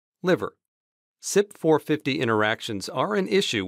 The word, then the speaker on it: CYP: has cytochrome p450 interactions condensed as cyp-450 and pronounced sip like sipa drink cymetidine's brand tagamet is an